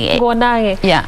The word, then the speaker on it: Nguo Nage: Pronunciation. Nguo Nage. In Kikuyu like that.